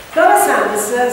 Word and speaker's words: Flora Sandes: Flora Sandes, si scrive come ve lo dico, cioè quindi non si pronuncerà così perché era inglese, era una infermiera inglese,